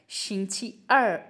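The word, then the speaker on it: 星期二: का second day है तो इसलिए ये है शिछ अर शिंगची अर अर जो है वो फॉलिंग टोन से है शिछ अर अर अर मींस शशि अर मींस ट्यूसडे।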